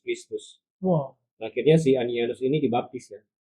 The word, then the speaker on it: Ananias: sepatu, tukang kulit, namanya Ananias atau Ananias. Ananias. Nah, kenapa beda ya? Nah itu pelafalannya seperti kita James, Yakobus, Jacob.